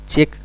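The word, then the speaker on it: Czech: इसका pronunciation चेक भी बोला जाता है।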